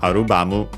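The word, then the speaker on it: アルバム: The only difference here is of course first and foremost Arubamu. Uh by the way an accented as a reminder.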